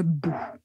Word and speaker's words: bout: Et retenez bien, quand vous prononcez le mot bout, il ne faut pas prononcer le le u français mais juste ou bou. Il y a une grande différence. Donc il faut vraiment faire attention et prononcer ou le bout.